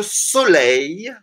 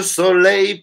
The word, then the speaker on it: soleil: Aqui, soleil, porque isso aí se pronuncia no final, ei, ei. Então, é soleil. É como se fosse um i que vai continuando assim. Como se fosse só i, alguns i's no final. I, entendeu? Soleil.